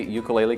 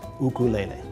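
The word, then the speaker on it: ʻukulele: that that's not correct the Hawaiian correct pronunciation is ukulele put a little apostrophe in front of the U for that sound ukulele ukulele jumping flea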